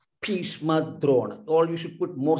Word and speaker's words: भीष्म द्रोण: पश्यैतान् समवेतान् कुरुनिति No, these Mahapranas are not pronounced correctly. Bhishma Drona. All you should put more stress here. Bhishma Drona, like that.